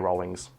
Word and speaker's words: Rowling: It is pronounced Rowling, and we know this because JK Rowling herself has gone on record as saying in multiple interviews, pronounce my name as if you're saying the word rolling.